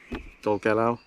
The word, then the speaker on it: Dolgellau: Dolagnu? Oh god. Dolgellau.